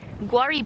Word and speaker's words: Guarri: Guari, by the way, for newer viewers, is spelled Guarri.